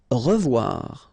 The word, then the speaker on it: revoir: Revoir. Okay, remember to pronounce this like a revoir.